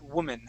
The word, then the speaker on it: woman: and that I a the a sounds uh sounds like a uh woman uh more like an ie okay so it's G to be it's going to be like a short eye sound okay so we say